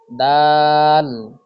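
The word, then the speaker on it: دال: 11 number মাখরাজ, জিহ্বার আগা সামনের উপরের 2 দাঁতের গোড়ার সঙ্গে লাগিয়ে উচ্চারিত হয় ত, দাল, তা। আবার উচ্চারণ করি, ত, দাল, তা।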